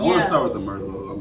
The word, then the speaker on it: Merlot: mer merloy Miss Merlo Merlo so I'm going to put that on the screen so y'all can know it's pronoun I mean it's spelled Merlot but it's pronounced Merlo okay let's put this